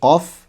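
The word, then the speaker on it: ق: Ee jadi qof itu agak ke belakang sedikit. Qo kaf ke ke depan. Ka, qo ka.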